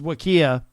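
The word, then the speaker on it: WKEAH: it up with uh this is wakiyah uh and it's spelled w k capital e a h so the uh the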